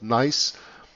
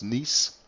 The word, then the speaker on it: Nice: Now it's called Nice. Or you can also pronounce it the French way, that is Nice.